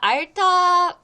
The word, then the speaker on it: 앓다: 힘들어 하는 것을 말해요 자 알타 발음 잠깐 볼게요 알타 여기 받침이 아 릴 히 있어요 어 그래서 우리 어 히읗 발음은 뭐 디귿 하고 같이 쓰면 무엇이 되죠 티이 되죠 그리고 히읗 하고 어